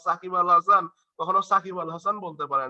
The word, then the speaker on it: সাকিব আল হাসান: ও কিন্তু উচ্চারণ করে এটা সচিন টেন্ডুলকার কিছু একটা উচ্চারণ করে, হ্যাঁ বা সাকিব আল হাসান কখনো সাকিব আল হাসান বলতে পারে না, মানে কি বলবে, শাকিব আল হাসান, এই টাইপের কিছু একটা বলবে, তাই না?